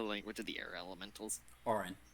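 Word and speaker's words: Auran: How do you pronounce the language of the air elementals? Orin.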